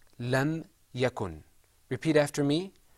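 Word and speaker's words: لم يكن: example lam yakun in the Quran this is pronounced lam yakun repeat after me lam yakun lam yakun okay did you hear that yeah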